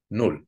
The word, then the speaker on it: null: Before a double consonant, a vowel has to be short, just like in null.